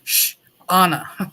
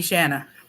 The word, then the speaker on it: Shauna: n n a so she told me how to say her she was like sh Anna like and she goes don't ever call me shanana one day I was